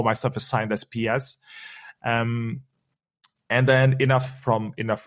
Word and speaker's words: PS: It's just PS because it's PS stands for, Psychic Symphony. And that's my artist name as well. I also do music and all my stuff is signed as PS.